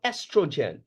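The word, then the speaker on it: oestrogen: When the ovaries receive that particular hormone, it's the ovaries now will itself start to produce another hormone called estrogen. Yes, the O is silent.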